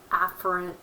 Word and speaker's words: afferent: would be motor and I'm exaggerating the way you pronounce that a in the ER drill so that you can hear me it's afferent and efferent so you get the